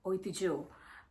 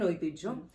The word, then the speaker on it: Oitijhyo: Slowly I changed to Oitijhyo the Tradition, and now it is Oitijhyo by Anusmita. Wow. I felt like if you can pronounce other French names, you can definitely pronounce this one, right?